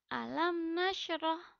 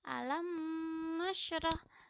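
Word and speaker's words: أَلَمْ نَشْرَحْ: disertai dengan dengung contoh alam nasyroh alam nasyroh AS bukan membaca alam masyrah tapi dibaca jelas dan tidak disertai dengung alam nasyroh seperti itu ya Sekian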